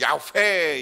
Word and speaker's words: 야훼: 여호와라는 거 원어 그대로 이스라엘 백식으로 발음하면 야훼 이렇게 발음을 하는 겁니다.